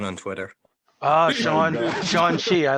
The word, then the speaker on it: Shang-Chi: So You're that's mispronouncing that. I just learned that. Yeah. today. yeah. So that's a Shang-Chi. oh yes yes. Everybody say it with me. Shang-Chi.